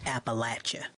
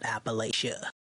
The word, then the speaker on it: Appalachia: to be rude but it's pronounced Appalachia not Appalachia and there you have